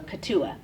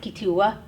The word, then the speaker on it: Keetoowah: and for people they spell it k-e-e-t-o-o-w-a-h so katua but it's pronounced kitua or anika dua um katua was the name